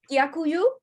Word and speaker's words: Дякую: Дякую. Did I say it right? Дякую. Yeah, Дякую.